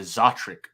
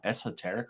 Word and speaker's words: Esoteric: that it was a zotrick audio and i was like are you sure cause it's spelled esoteric he's like no no it's how they pronounce it they pronounce it as zodrick so i literally called